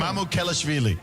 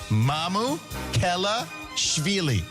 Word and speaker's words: Mamukelashvili: Mamukelashvili. Has agreed to Alex, is the easiest way to pronounce it. Mamukelashvili. Mamukelashvili.